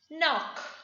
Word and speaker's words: knock: The letter K is silent when it appears before the letter N. For example, knowledge. We don't say knowledge. K is silent before the N. Knowledge. Knock.